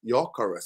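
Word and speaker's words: Gyökeres: Why am I talking to the Swedish Nor is an O with with two dots over it. pronounced Yurus. Yurus Yurus, right?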